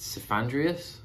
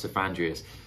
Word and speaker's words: Cephandrius: of a character and I think it's pronounced sandreas it looks like it's pronounced sandreas this guy kelia tries